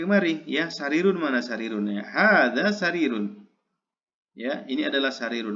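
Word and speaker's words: هذا: yang belum bisa berbahasa Arab ya tolong banyak-banyak diucapkan ya hadza hadza hadza ya hadza baitun hadza masjidun had babun dan seterusnya ya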